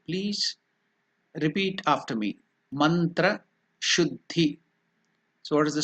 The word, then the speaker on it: Shuddhi: Mantra Shuddhihi, purification of the mantra.